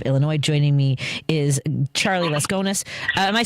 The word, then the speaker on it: Laskonis: Joining me is Charlie Laskonis. Am I saying your name correctly, my friend? Absolutely, yes. Great pronunciation.